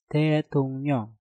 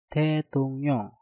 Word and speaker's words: 대통령: tung diakhiri dengan nyeng, setelah itu diikuti dengan kata yang diawali real. Maka realnya kita rubah menjadi suara nyen. Maka pengucapannya menjadi 대통령, 대통령, 대통령.